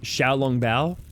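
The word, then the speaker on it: xiaolongbao: i know that um x's are actually pronounced with a shir rather than um azure i used to think it was je but that's zh yeah um yeah so like um xiao long bao yeah that's that's food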